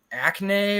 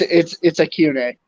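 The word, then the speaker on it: Achane: It's like Acne or something like that. He's the running back at Texas A&M. It's Acune.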